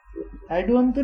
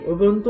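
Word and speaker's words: Ubuntu: एड उबंटू अलग होता है, एडुबंटू नहीं होता कुछ भी, उबुंटू होता है। उबुंटू बोलते हैं, कोई कोई बोलता होगा, प्रोनाउंस करता होगा, यही है, एक ही चीज है, ठीक है।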